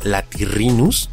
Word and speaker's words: Latirrhinus: Por ejemplo, tenemos a que se lee como Rhynchosaurus, o al complicado, que se pronuncia como Ramphorhynchus. Ahora, prueba con este nombre. Si lo leíste como Latirrhinus, has dado en el clavo.